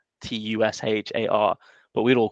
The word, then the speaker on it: Tushar: like for his names t-u-s-h-a-r but we'd all call them Tushar you know you just typically put more pronunciation on the first bit sorry I got along